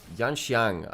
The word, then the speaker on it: Yanxiang: It should be Xiang. Look, Yanxiang? okay, so I need to really brush up my pronunciation of them. So when it's normally the IAN, it's N instead of An, which is a little bit of a different pronunciation.